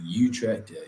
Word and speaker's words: Utrecht: that i've heard uh utrecht and utrecht you checked like really getting at the back of the throat uh beautiful place like